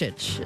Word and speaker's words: Dončić: That's not donkey. That's how it's pronounced. Dončić, is it not?